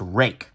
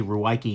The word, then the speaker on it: Ruike: the company is uh they they are claiming this is pronounced rake um i'm probably gonna slip and say ruwaiki because that makes more sense but it's very important